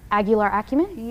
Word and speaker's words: Aguilar Acumen: Of Aguilar Acumen?